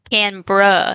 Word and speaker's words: Canberra: Canberra, like bruh, BRUH, bruh.